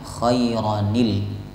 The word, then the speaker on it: خيرا: Karena tanwin bertemu dengan alif, artinya alif itu kan huruf yang mati, huruf yang tidak dibaca, maka tanwinnya hilang diganti dengan nun berharokat kasrah. Khairan dibaca khairanil, ya, khairanil wasiyah.